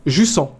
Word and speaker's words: Jussant: Jussant est un terme français et se prononce français. Jussant, d'accord.